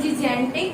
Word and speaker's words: gigantic: Now here, this G is giving sound of what? J. Whereas this G is giving sound of G.